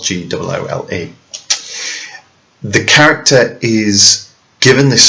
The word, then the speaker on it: Goole: His name is a pun on the word ghoul, Ghoul, whilst in the play his name is spelled Goole.